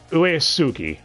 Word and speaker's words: Uesugi: that dub but alright our protagonist is futaro uesugi that is how you pronounce that last name correctly oh no but